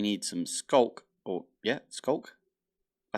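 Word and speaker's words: Sculk: Or, yeah, skulk.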